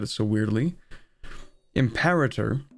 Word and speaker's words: Imperator: Imperator, even though I think people are supposed to pronounce it as imperator, but I'm sorry, it's already too anglicized in my brain, so I'm not changing it.